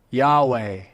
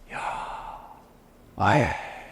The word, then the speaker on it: Yahweh: He said the actual word Yahweh, which means God, is the only word that when you pronounce, your mouth and your tongue does not touch. Yahweh.